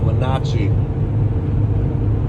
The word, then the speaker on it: Wenatchee: is a it's called I think it's pronounced Wenatchee it's this town I'm